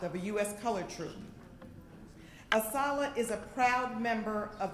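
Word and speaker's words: ASALH: our honor and we refer to ourselves as a solid that's how we pronounce our acronym to be asked to bring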